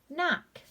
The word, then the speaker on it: knock: N-ak, knock. Silent K, here we have K-N-O-B, that's going to be pronounced with just the N sound.